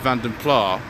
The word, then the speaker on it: Vanden Plas: in the comments section, there are three completely acceptable pronunciations of Vanden Plas. This is the one that was used by the Austin Rover postage material in the 1980s. It's the one that I know.